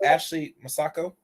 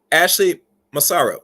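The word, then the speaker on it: Ashley Massaro: no long here I think her name is Ashley maso maso I think I pronounce her name right let me make sure I pronounce the name right Ashley masaro yeah and there was there was some other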